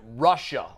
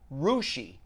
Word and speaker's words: Russia: i told you the story about i i pronounced it russia ohio oh yes remember the team yes russia a very small team from the western part of the state it's actually pronounced rushi it's about russia are you ssia but it's